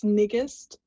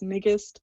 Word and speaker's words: Nigist: It's Nigist, rhymes with biggest, so that's Nigist.